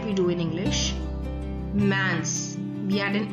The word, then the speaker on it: mince: I'll repeat again that these consonants, the S added at the end of the plural form of the adjectives is silent. We will not pronounce this S. That is why the plural form also remains same in pronunciation with the singular form.